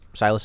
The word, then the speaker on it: Silas: news but for a different reason Paul Silas Silas is how you say his last name right